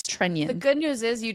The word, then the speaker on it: Trenin: So I'm going to just say it's Trenion. It is not Trenin. It is Trenion.